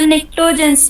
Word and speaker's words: निक्टोजेंस: सर निक्टोजेंस सर निक्टोजेंस P okay silent okay, है।